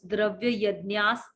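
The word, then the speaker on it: dravyayajñās: The sa in between the two words, dravya yajnas tapo yajnaha.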